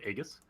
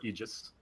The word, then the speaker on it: Aegis: And then your self-determined value of Aegis, or Aegis, pardon. I'm a heathen. We're changing the world of Dota one pronunciation at a time.